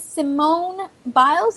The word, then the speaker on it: Simone Biles: on her performance but um it her name's Simone biles if i'm not mistaken i hope i pronounced her name correct you did okay cool